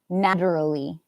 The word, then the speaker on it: naturally: literally yeah um and naturally this one here must be a t sound I think yeah I would never say naturally I would say naturally natural or naturally so it might have a a little bit of a CH sound naturally uh not too much though actually just keep it a te it's safer naturally ant an and ant